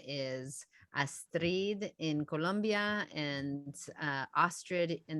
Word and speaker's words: Astrid: new york accent of people calling me estrid uh was uh was something that i i changed the pronunciation when i was younger and i have stuck with that but if you can pronounce my name and roll the r's and you say astrid that's that's great but mostly it's just astrid so and my sister's